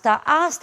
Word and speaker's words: hasta: Da mesma maneira como em português, o H não tem som. Então, ele aparece somente na forma escrita, mas não na fonética. A palavra hasta é uma preposição que nós traduzimos por até no português.